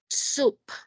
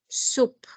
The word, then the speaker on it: soup: So don't forget, soup. Soup. Do not confuse with soap. Soap is the one that you take a shower with. Yes?